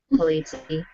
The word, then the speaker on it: Polizzi: So I interviewed Joe Polizzi, and I said his name wrong twice. So my bad, Joe Polizzi.